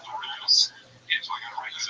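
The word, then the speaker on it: Norah: I think you said Noah. It's Nora.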